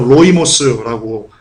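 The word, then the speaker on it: λοιμός: 돼 있습니다 온이요 헬로 원문으로 로이모고 발음하고 뜻은 패스트 흑사병 뭡니까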